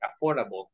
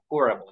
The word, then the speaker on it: affordable: child and a affordable we don't pronounce the d in the middle that one is not pronounced like affordable affordable okay so it's a